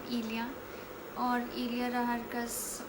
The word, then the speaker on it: Elya: I'm not Ellie, I am Ilya.